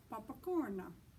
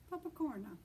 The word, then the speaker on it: popcorn: no what they say the word looks the same but they say papakorna papakorna so just another way